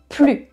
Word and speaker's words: plus: No longer or not anymore will be plus, and you don't pronounce the S.